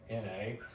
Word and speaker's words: Shodhana: But Nadi Sadhana, it's actually pronounced, spelled Shodhana. But anyway, most people will say Nadi Sadhana.